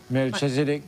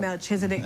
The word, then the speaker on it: Melchizedek: The name is Royal Melchizedek Camp. Melchizedek Camp, exactly. So let's talk about the formation of that, and of course, you know, what is the goal from this camp? Yeah, well, the Melchizedek Camp is a registered organization for the Rasta